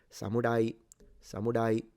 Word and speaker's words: samurai: It's like an in between an L and an R.